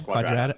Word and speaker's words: Quadrata: But Quadrata is like quadratic, right?